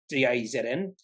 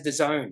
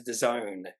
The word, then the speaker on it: DAZN: company uh I thought it would have been da ZN no you pronounce it as theone I was like oh geez okay you pronounce this company that has bought Foxdale as theone uh this is an international streaming service I